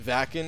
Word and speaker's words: Wacken: It's pronounced Wacken in Germany, biggest metal festival in the world.